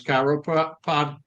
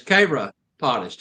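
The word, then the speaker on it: chiropodist: It's spelled C H I R O P O D I S T, which most people try to pronounce it is Chyropodist. Kyropotist, but it's Kraottist is actually the correct pronunciation on that.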